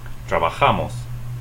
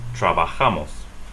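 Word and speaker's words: trabajamos: here 's another word this word means we work it also ends with an s so you're going to stress the next to the last syllable trabajamas trabajamas let's break down one whole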